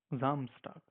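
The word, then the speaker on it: Samstag: it's like fry do Saturday we call it as Sam zto Zam stock so we have to pronounce it like Z zamst okay and Sunday we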